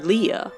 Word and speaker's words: Leia: Is Princess Leia, or rather Leia, the signature of Lee Brackett, the film's female co-author?